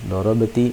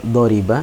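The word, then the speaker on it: ضرب: Kalau kalian membaca doriba ya, doriba, maka salah karena tidak sewazan dengan kata dasar pertama pada fi'il madhinya yaitu doroba. Doroba. Misalnya bacanya doriba, doriba, maka salah karena tidak sewazan dengan doroba ya.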